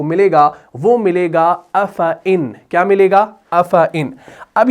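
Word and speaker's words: أَفَإِنْ: ہم پڑھتے ہیں افعن، یعنی اس الف کو ہم نہیں پڑھتے، اس کو ہم ڈراپ کر دیتے ہیں، یعنی تلفظ کے اعتبار سے اگر دیکھا جائے ہم اس کو پڑھتے ہیں ایسے افعن، حالانکہ قرآن میں ایسے لکھا ہے لیکن تلفظ کے اعتبار سے ہم سیدھا فا کے بعد حمزہ زیر کو لگا دیتے ہیں تلفظ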